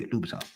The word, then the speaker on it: Louboutin: Yeah, Louboutin.